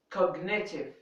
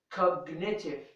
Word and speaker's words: cognitive: it is pronounced here and here we have cognitive cognitive it is also here pronounced and the last one signature signature in